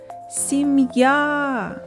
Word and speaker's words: сім'я: складів два склади визначимо куди падає наголос покличемо сім'я наголос падає на звук а наступне слово солов'ї запишемо